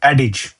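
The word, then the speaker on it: adage: एडिज हम ए डी ए जी E pronunciation अलग है एडज हम ए डी ए डी ए जी ई लेकिन प्रोनाउंस होता है एडिज आई की तरह लेकिन स्पेलिंग है ए डी ए जी ई एडिज एक कहावत फ्रेज़ है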